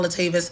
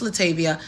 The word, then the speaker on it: Latavia: this post as well it's not latavist it's Latavia Latavia was going to